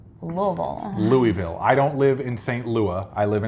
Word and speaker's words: Louisville: soy curls occasionally we will have like the Louisville vegan jerky which is Louisville its Louisville Louisville I don't live in st.